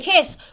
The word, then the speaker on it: Kiss: Yeah, but it's such a name, Kiss. Is It that is. your real name? That is my real name. It is a Hungarian last name, pronounced Really? Kish in Hungarian.